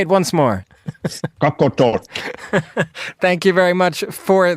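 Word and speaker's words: Qaqortoq: city here called coot say it once more coot talk thank you very much for that now the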